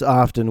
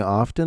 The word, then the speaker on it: often: And his opponents often would not look alive. Or often. I guess I've been mispronouncing often. I've been dropping that hard T. Apparently we're not supposed to.